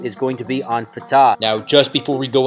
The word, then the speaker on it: Fatah: Now, the way we would read this in the English letters and pronounce it would be Fatah. However, when you're looking at the Arabic letters from right to left here, what you're going to see is an F-T-H or F-T-H.